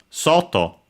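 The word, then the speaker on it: 外: unacented sto accented on the first syllable and so yes outside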